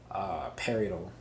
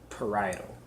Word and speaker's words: parietal: occipital the temporal frontal and parallel but that's how you pronounce it or parietal lobe the cerebellum gets information